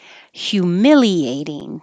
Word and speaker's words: humiliating: or spanish hombre ombre humiliating this hu is really hyu so your tongue starts very high in the y position at the same time